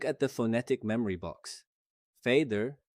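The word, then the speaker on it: fæder: Fader uses the ash character we learned earlier, pronounced a, just like modern cat.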